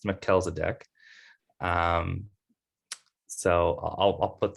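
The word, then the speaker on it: Melchizedek: facebook pillow so that's how it's pronounced it's pronounced mackel's a deck um so i'll i'll put that out there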